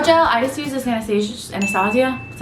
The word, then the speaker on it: Anastasia: For brow gel, I just use this Anastasia, that's how you say it, one.